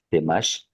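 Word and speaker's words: Temax: Y más a la derecha, por donde está Temash, si ven, tiene la X al final, Temash, para arriba está el Silam, que realmente se pronuncia Silam, es una DZ, ¿me explico?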